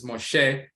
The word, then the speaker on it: Moshe: msh and so forth but it's Moshe that's how they pronounce it that comes from ma